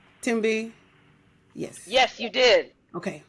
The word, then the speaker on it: Thembi: Thembi? Yes. Yes, you did. Okay. You did. Yes. Thank you. The H, Americans, y'all don't know. The H is silent.